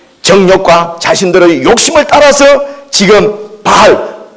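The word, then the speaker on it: Baal: 자신들의 욕심을 따라서 지금 바알, 영어 발음으로는 베이얼이라고 바알을 지금 섬기고 있는 것입니다.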